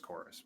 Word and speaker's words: Chorus: like the but yeah I guess it's actually pronounced chorus but how would you think of this because